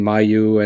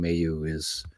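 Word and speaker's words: Mailloux: So we all have our slants on language, but just, I see a lot of people saying Mayu, and it's Logan Mayu is the correct pronunciation on him.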